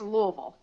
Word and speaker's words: Louisville: If you're from here, it's Louisville. Yes. Louisville. If you're not from here, it'll be one of the other pronunciations.